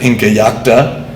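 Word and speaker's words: Incallajta: One, which you can see out there in Bolivia at the site of Inca Yacta, and that is how it's pronounced, and there are 5 spellings, but that is the currently accepted one.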